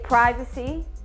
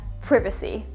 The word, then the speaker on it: privacy: And also, a small confession, I personally do say privacy, but throughout most of the UK, you will hear privacy.